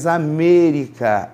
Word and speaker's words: América: A pronúncia correta é América, época.